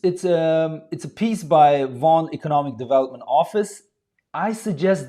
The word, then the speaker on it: Vaughan: So yes, this word is spelled and pronounced as Vaughan.